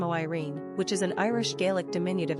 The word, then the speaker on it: Máirín: Maureen is the anglicized form of Máirín, pronounced Maireen, which is an Irish-Gaelic diminutive of Mary.